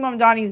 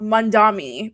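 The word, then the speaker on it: Mamdani: But it's like all of these people are mispronouncing Mandani's name. And I'm just like at what point are we going to realize that it's Mandani and not Mandami?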